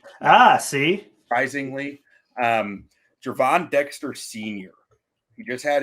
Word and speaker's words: Gervon: I like this pick jervon Dexter it's it's uh pronounced like a j ah see surprisingly um Javon Dexter senior he just